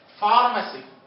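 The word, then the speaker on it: pharmacy: فارماسي. فارماسي هي الصيدلية يعني. ليش لفظناها ف؟ القاعدة هيك، قاعدة وقفية، بدنا نلتزم بالقاعدة. البي مع الآن، البي عطول سايلنت.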